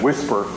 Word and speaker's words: WSPR: propagation reporter wspr uh it's nice because you can pronounce that as whisper and we talk about